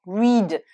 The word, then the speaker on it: read: Là aussi, attention, read. Donc c'est un i long, mais au prétérit et au participe passé, le EA ici se prononce E et non pas I.